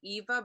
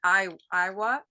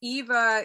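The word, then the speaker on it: ʻIwa: But I just wanted to say it's Sailing Eva, but it's spelled IWA. Yeah. That's right. A lot of people will read it Iowa. But it's Eva. It's the great frigate bird, and that's that name is Hawaiian.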